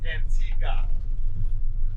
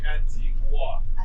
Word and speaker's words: Antigua: so exactly guys the pronunciation for the english is antigua the spanish say antigua because it was said